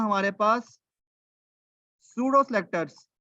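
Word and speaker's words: pseudo: होते हैं हमारे पास सूडो सेलेक्टर्स। सूडो, पी इसमें साइलेंट है, इसको पसीडो पढ़ लें आप, इसको हम सूडो कहते हैं।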